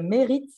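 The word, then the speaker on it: Mherit: parcours entrepreneur de Ticket qui s'appelle Merit, ça s'écrit M-H-E-R-I-T, je vais le mettre dans le chat, et qui précisément va s'attaquer à ce sujet-là.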